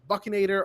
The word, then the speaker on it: Buckinator: Buckinator, or rhymes with Buck.